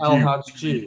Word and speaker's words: El Hadji: El Hadji.